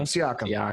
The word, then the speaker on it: Siakam: How to pronounce the last one's name? I'm drawing a blank. That's Siakam guy? Siakam.